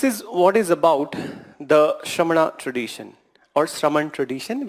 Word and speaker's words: Shramana: Then, so this is what is about the Shramana tradition or Shraman tradition. We do call Shamana, but it is Shraman tradition. This is how you pronounce.